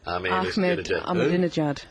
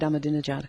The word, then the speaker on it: Ahmadinejad: Whoever get organised, nobody is going to be able to say Ahmadinejad. Yeah. Ahmed Ahmadinejad. I'll miss saying that. You just remember a dinner jacket and try and just think of that.